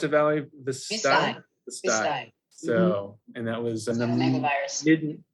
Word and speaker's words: Vistide: So the actual answer was, how do you pronounce it, Valerie? Vistide.